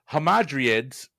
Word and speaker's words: Hamadryads: Oh, God, I get to mispronounce Greek stuff now. Mike, in Greek mythology, Hamadryad's spirit guarded what?